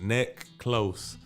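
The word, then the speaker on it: Neclos: name my government n-e-c-l-o-s is my last name that's pronounced neck close so necklace you can find me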